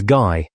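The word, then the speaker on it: Gy: The word for woman is guy pronounced hard as in guy.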